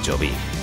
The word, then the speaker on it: Choví: Eso sí, en todo menos en nuestro nombre, que sigue siendo Chovic, con acento en la I.